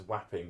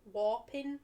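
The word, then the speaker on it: Wapping: What does whapping mean? It's not called whapping, but that's what it's spelt like. Oh, what are you talking about? It's a place down south. Oh. I think it's called like Warping or something.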